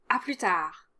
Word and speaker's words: à plus tard: Don't pronounce any of the final consonants, so à plus tard, à plus tard.